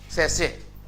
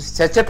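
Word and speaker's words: sachet: से देखेगा कितना है, सैसेट, हम तो सैचेट पढ़ते हैं ना। अरे भाई गुटकुआ बोला, सैसे होता है एक्चुअली, सही उच्चारण सैसे।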